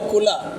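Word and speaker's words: كل: دیکھیے، اگر صحیح تلفظ کی ادائیگی نہیں کیجیے گا تو معنی بدل جاتا ہے. قل، بڑا قاف، دو نقطہ والا قوف، قاف مطلب قل، کہیے، فرمائیے. اور کل، چھوٹا کاف والا کل، ایک معنی کل کا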